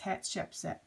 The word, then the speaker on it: Hatshepsut: having a difficult time so I found this one and it's hat Shep set so I'm going to